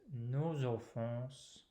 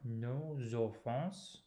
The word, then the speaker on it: nos offenses: And then with nos offenses, we have the liaison, nos offenses. So two words divided differently orally than in writing.